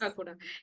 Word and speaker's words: Kakuda: I'm not sure if I'm getting the title correct pronounced. Kakuda, right? Kakura, yes. Kakuda.